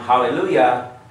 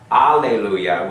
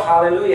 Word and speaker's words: hallelujah: Spanish word it's Hebrew even if there's a Spanish way to pronounce um hallelujah allelujah with an a it's still hallelujah it's from Hebrew Hallelujah for the shorten